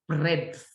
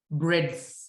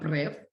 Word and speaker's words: breadth: this is not actually breath guys not like haha breath no it's pronounced it's written like this like bread with a th at the end so it's breadth breadth not breath like when we breathe